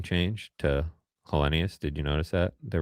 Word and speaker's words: Helenius: They've always been Helenius, not Helenus, you know.